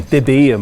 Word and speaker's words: Debye: zero correlation length the so called Debye maths excuse me Divya math all my Dutch friends always tell me I'm saying it wrong we already saw that